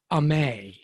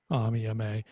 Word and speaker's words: Amy: Yeah, it's spelt Amy like here in the States, but they call her Ame. Yeah, is how it's pronounced. Yeah, Ame.